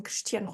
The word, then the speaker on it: Cristiano: But perhaps you struggle pronouncing Cristiano Ronaldo. So that I before an S that sounds like a sh is mute in Portuguese, in case you didn't know.